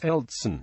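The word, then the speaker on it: Елцин: Boris Yeltsin is Eltsin, Yekaterinburg is Ekaterinburg, and Sarajevo is Sarajevo, although Yelena Yankovic is Yelena.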